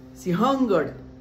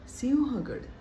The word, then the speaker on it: सिंहगड: वाघ वाघ सिंह सिंह काही जण म्हणतात सिंहगड सिंहगड नाही हो ह वर अनुस्वार नाहीये सिंहगड स वर अनुस्वार आहे आपण शुद्ध उच्चारले पाहिजेत